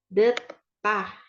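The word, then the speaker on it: 듣다: Deta mendengarkan tah gitu kenapa jadi t ininya ya kan padahal itu D ya di bawah tapi kalau di bawah dia dibacanya jadi T gitu jadi detah detah ya Terus yang berikutnya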